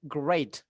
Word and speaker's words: great: pakai I'm great untuk cara bacanya enggak dibaca i tapi e great I'm great jadi jangan